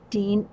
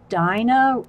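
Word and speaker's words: Dina: journal my I know I must say it wrong Dean no it's not it's Dino there's Dyna Wakeley and Dino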